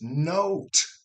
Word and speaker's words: note: If you add an E to the end, it's note.